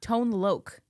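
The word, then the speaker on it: Tone Lōc: Tone Lok.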